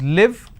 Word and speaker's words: live: to live there so please pay attention to how I'm pronouncing I want to leave for I want sorry I want a leave for three days as I am travelling to Mumbai I used to live there so this is live this is leave now if I interchange